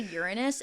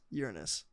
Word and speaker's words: Uranus: And now Elon thinks that we can get to Uranus in 4 hours with his new light speed technology that he's creating.